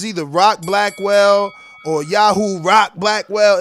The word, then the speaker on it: Yahu: Am I pronouncing this right? Is Yahoo right? Yep, yeah, it's Yahoo.